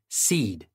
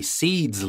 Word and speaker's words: cede: retaliate for and now for our next word seed CE d e Spain seeded territory to France